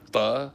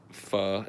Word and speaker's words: pho: Do you like pho? I do like pho. I like pho so much I know how to pronounce it properly. I cringe pretty hard when people say pho. It's not pho, it's pho.